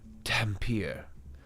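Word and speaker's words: Dhampir: Thank you for spelling it phonetically. Dampier.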